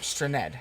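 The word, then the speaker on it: Strnad: Straned.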